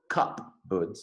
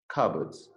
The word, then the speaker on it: cupboards: fell past it here the pronunciation of cupboards you don't hear the cupboards sorry the per you don't hear the per cup birds no just cupboards well thought alice to